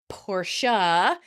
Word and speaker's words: Porsche: The pronunciation is Porsche and many people think the E is silent. Oh, do shut up. Porsche.